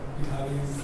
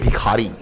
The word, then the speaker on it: भिखारी: Isn't that aren't you perpetuating this negative stereotype about Biharis? Bhikhari? Sorry, my pronunciation may be to blame for that. I meant Bhikhari.